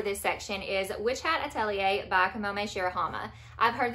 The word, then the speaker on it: Atelier: pronounced it correctly, and I believe Atelier is the correct pronunciation according to Google at least, but you may have heard it also as Witch Hat Atelier.